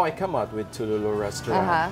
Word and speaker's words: Touloulou: Am I saying it correctly? Touloulou? Yes.